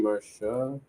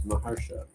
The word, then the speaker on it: Maharsha: Marsha. No, it's Maharsha.